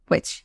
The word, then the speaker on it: which: Case will be using উইচ। আচ্ছা, এটার উচ্চারণটা উইচ, exactly you গট it right. উইচ, WITCH, উইচ, এইটার মতন উচ্চারণটা শোনায়।